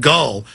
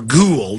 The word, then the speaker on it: Gul: gets an interview with Hamid Gull but uh or ghoul depending on how you pronounce it but he came on